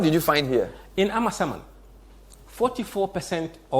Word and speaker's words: Amasaman: I like Amasaman for a reason, because I got the pronunciation of the name correct last week. So it's Amasaman.